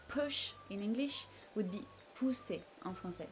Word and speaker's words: pousser: in English would be pousser en français. So you see a bit less intensity here. Push, pousser en français.